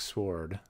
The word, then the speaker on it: sword: The Treasure, so a pretty epic sword right there. Yes, I did pronounce that W very strong. That's sword.